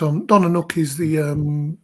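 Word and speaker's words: Donna Nook: I think that's how you pronounce it. Leconfield, but yeah. Donna Nuke, that's a new one for me. Right on. Donnanook is the right at the end of the Humber estuary.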